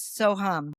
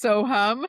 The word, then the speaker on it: Soham: Sohum. So it's one of the most well-known Vedic mantras. It means I am. It's SO, and then you'll see it written HUM. Okay. There's a story behind the Soham, but anyway, when I